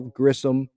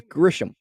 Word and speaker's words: Grisham: home runs from Belle Grissom it's like his name is Grisham who is Grissom not that hard to pronounce like yeah yeah so